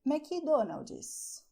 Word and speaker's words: McDonald's: So: the thing is that we Brazilians, we love vowels... And our favorite vowel is I, so when we say English words in Portuguese, we add some I to the words, which is why if you say "McDonald's", people will understand what you're saying... But the Brazilian will say "MCDONALD'S", this is the way that we speak.